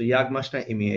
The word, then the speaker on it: Jak masz na imię?: টাইপের, যেন উচ্চারণগুলো ভেঙে ভেঙে করা, যেন আপনি উচ্চারণগুলো শুনে তারপরে প্র্যাকটিস করতে পারেন। একটা এক্সাম্পল হচ্ছে এটা। Jak masz na imię? সো ইয়াগ মাস না ইমিয়ে, এটাকে ভাঙবে এখন।